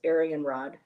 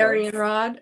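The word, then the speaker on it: Arianrhod: out for you is Arianhod. Am I pronouncing that right, Heather? I've heard her pronounced as Aryan Rod. So. Aryan Rod. Okay. The H is silent, I guess.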